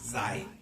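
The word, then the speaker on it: Zayin: 자인, Z-A-Y-I-N, 자인이라고 읽는데 우리 한번 따라합시다. 자인.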